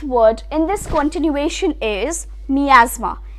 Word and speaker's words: miasma: in this continuation is miasma mi a SMA now how about saying